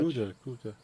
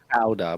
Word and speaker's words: Gouda: Gouda's Dutch. Gouda. It's Oh, very popular in America. We yeah. just say Gouda, by the way, but I know the Okay, Gouda. Gouda. Gouda? Yeah. The Americans say Gouda. Yeah, I've always known it as Gouda, but is it Gouda? Gouda. Oh, it's got that k in it.